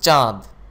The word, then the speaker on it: চাঁদ: কর্ণ কান চন্দ্র চাঁদ চাঁদ উচ্চারণ করার সময় যে চন্দ্রবিন্দু রয়েছে তার নাশারন্দ্র বা নাক থেকে বের হয়ে আসবে চাঁদ চাঁদ নয় চাঁদ দন্ত দাঁত পক্ষী পাখি